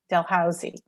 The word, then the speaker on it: Dalhousie: all right any other questions final questions ah delhausey delhousey is how it's pronounced yes it it it isn't i mean